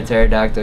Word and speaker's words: pterodactyl: Why can't you hear a pterodactyl using the bathroom? Because the P is silent.